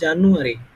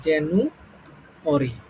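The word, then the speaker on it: January: তো প্রথমে দেখো, আমরা এতদিন হচ্ছে এটা উচ্চারণ করতাম হচ্ছে জানুয়ারি। ঠিক আছে? জানুয়ারি উচ্চারণ করতাম, কিন্তু এটা সঠিক উচ্চারণ হবে তোমার জেনু। ঠিক আছে? জেনু অরি, এই শেষে হচ্ছে অরি।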